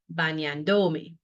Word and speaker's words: bañándome: If it ends in a vowel, emphasize the second to last syllable, right? So it would become bañándome. But that's not what we want. We want to keep the stress on the previous A where it was before me was attached, right?